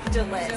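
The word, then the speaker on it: Jalet: It's Jelaine with the J-A-L-E-T. Jelaine. T is silent.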